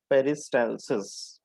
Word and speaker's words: peristalsis: इट इज पेरिस्टाइलसिस। Okay, जैसा spelling है वैसे ही प्रोनाउंसिएशन है. Reverse पेरिस्टालसिस.